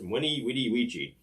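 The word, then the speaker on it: veni vidi vici: won't call a v i've heard that the famous exclamation vinnie video she should be pronounced winnie wity ouija now that sounds pretty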